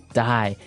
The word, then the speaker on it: dye: Dye. So it's pronounced exactly the same way as, you know, to dye to not live anymore.